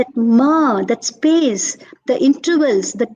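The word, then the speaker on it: 間: way of thinking see ma is and you pronounce as m a a h ma okay okay and ma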